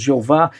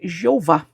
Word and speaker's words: Jeová: Talvez nem mesmo os judeus sabem, porque eles evitavam essa pronúncia. Mas normalmente nós falamos Jeová.